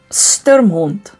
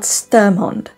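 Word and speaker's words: Sturmhond: Sturmond is how you'd say that. Sturmond. Not Sturmond.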